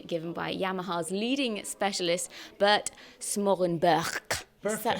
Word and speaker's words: Smorenburg: We're at the Piano Gallery in Faringdon for a very special presentation given by Yamaha's leading specialist, Bert Smorenburg.